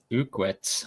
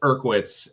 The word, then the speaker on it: Urkwitz: I I butchered his name a bunch too until he corrected me. It's Urkwitz.